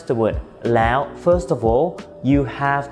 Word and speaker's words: แล้ว: The แอว sound is actually a combination of two vowels: แอ and โอะ. So, the first part, แอ, sounds like the word "air". You know, like "air conditioner" in standard British English. And then you stick โอะ at the end, so it sounds like this: แอว Some of the examples